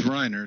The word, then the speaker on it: Reiner: rain air yes this reiner it's the German pronunciation Reiner Reiner and how